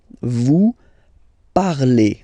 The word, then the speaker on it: parlez: Vous parlez. Okay, remember a Z, when you combine them together, you get the sound E.